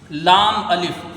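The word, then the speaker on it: لا: फिर उसके बाद आइए आगे लाम अलिफ।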